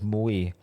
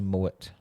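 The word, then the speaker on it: Moët: It's actually called It's Mo Mo and Shandon. Okay. Go. It's moy. Oh, you got a bottle of moi. It's actually mow.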